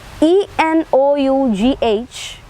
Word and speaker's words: enough: We can see one example written here, B-O-U-G-H-T, it is bought, or B-R-O-U-G-H-T, it is again uttered as brought, whereas E-N-O-U-G-H, that is uttered as enough.